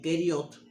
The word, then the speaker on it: Keriot: Keriot era una ciudad de Judá y Keriot se escribe K-E-R-I-O-T, y también lo podemos encontrar en las escrituras con la letra Q-U-E-R-I-O-T, Keriot.